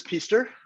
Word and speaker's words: Pister: So I am Pister, rhymes with Easter.